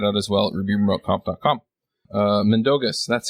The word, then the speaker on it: Mindaugas: Mindaugas, that's how you say it.